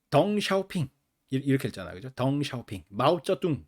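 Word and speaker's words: 鄧小平: 이렇게 읽고 그죠 그다음에 그 등 덩샤오핑 요렇게 발음하지 않고 등소평 렇게 읽었었고 어 그래서 지금 시진핑 주석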